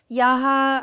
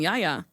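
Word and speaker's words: Yahya: I've been calling him Yaya. I also thought it was Yaya. I think it's Yaya. It might be pronounced Yaya or Ya. There's like a fun H in there.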